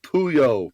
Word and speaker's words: Puyol: Pronounced Pooh-Yole.